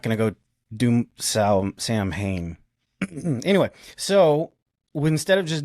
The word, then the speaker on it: Samhain: Probably not a ton of stuff on Samhain, and that's how it's pronounced, Samhain, right? So even though it looks like Samhain, it is not Samhain.